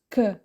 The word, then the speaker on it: K: La lettre K se prononce que, comme dans le mot kangourou.